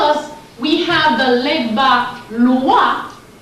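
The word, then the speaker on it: Loa: Their Loi is written L-O-I, our Loi is written L-O-A. Both are pronounced the same way.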